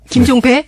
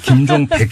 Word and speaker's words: 김종백: 자, 이 김종백 씨 우리 지금부터 발음 조심합시다. 김종배? 네, 김종백 씨.